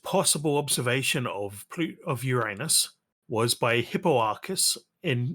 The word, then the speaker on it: Uranus: here we go DJ the preferred pronunciation among astronomers yeah is Uranus with a long u yeah and stress on the first syllable ah one way put